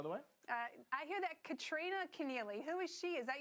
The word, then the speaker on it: Kristina Keneally: I hear that Kristina Keneally. Who is she? Is that your new co-host? Did I get your name wrong, did I?